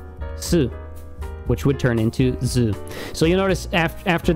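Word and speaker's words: ず: one we had right so this su would turn into zoo if you add 10 10 it is now zoo zoo all right and say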